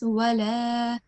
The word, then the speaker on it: ولا: We have to prolong the lam for 2 seconds. Wala.